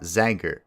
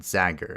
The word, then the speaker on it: Zager: Long A on my name. Zager. Zager, not Zagger in pronunciation.